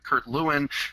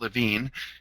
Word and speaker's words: Lewin: group dynamics and you you may have known him as Kurt Lewin but in uh in Germany where he was living they pronounced at Levine his he was a